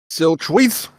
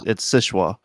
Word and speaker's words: Sichua: Silchweets. No, it's Sichua. Shishwa? So that's No definitely way. That's how you spell that's Sichwa. Sichua. that's definitely Sichua.